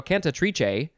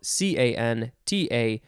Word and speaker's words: cantatrice: ways to say this kanta tricha or no canta triche i think that's maybe the italian way to say that conte triche and then there's also uh conte trees no conta trees contatris it is spelled c-a-n-t-a-t-r-i-c-e cantatrice or cantatrice noun from 1801 a